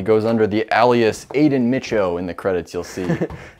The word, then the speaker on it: Micho: Oh yeah, by the way, it's Micho. Thanks for repeating the last name to me. I noticed that you were mispronouncing it.